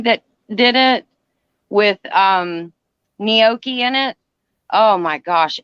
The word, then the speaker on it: gnocchi: say it i said ganache then me too somebody said huh well i said well how do you say that they said the g is silent i said kind of